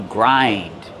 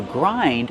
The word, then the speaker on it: grind: You grind. You grind the pepper with a peppermill. How do we pronounce grind? Grind. Use the long I like find and mind.